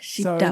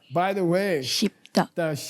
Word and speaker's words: gzhi bdag: Dan pengucapannya Shibdak. Kita mengucapkannya bi. Shibdak.